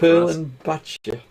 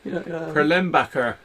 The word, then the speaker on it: Perlenbacher: Perlin Batcher. Perlin Batcher, you think? I think so. Yeah. No, Perlenbacher. Yeah, it's this stuff anyway, and that's okay as well.